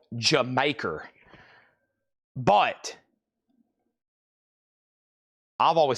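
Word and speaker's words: D'yer Mak'er: I've heard it's actually called pronounced Jamaica. That Led Zeppelin song is evidently supposed to be called Jamaica, but I've always said Dire Maker.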